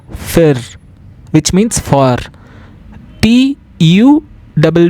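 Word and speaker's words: für: If we see 2 dots on the U, it is pronounced as Y. I. Okay, example, FU, 2 double dots R, fir, which means for.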